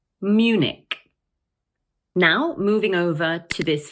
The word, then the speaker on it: Munich: So in English, we normally pronounce it as Munich. Notice that the word has two syllables, Munich, and the stress is placed on the first one.